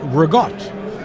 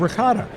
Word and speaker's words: ricotta: of the ingredients so I said regot instead of ricotta and I thought that I was doing the true Italian pronunciation so I had a